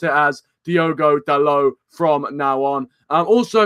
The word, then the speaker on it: Diogo Dalot: you guys don't like that but I'm gonna pronounce it as do godello from now on and also if you guys